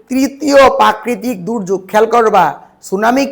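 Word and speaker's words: tsunami: তখন টরনেডু সৃষ্টি হয় সুনামি সুনামি বানানটা একটু খেয়াল রাখবা সুনামি বানানো টি এর উচ্চারণ হবে না টি সুনামি আসলে কিন্তু টি সুনামি নয় এটা হল সুনামি সুনামি জাপানি শব্দ সু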